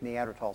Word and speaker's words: Neanderthal: early and one late neanderthal site the first neanderthal was found and by the way it's neanderthal the h is silent and has been silent since 1903.